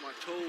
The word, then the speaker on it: Mato: And he said, I pronounced it wrong many times, and he said I wasn't putting enough O into it, so Mato.